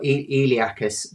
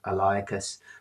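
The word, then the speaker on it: iliacus: So we've got eliacis sometimes pronounced eliacus. There's only one person I've ever heard um call it that.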